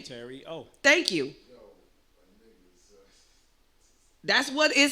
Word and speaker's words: Terio: Terio.